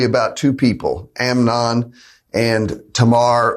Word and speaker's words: Tamar: two people, Amnon and Tamar or Tamar. Tamar is kind of the anglicized way to say her name, and that's probably the one I'll go with today.